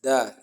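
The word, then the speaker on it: د: If you should pronounce it, you are going to notice that the tip of your tongue, that the top part of your tongue, eats the root of the upper incisors.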